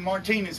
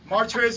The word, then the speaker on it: Martrez: shout out martrez milner i caught him martinez when i first started butchered his name but martress milner he actually said when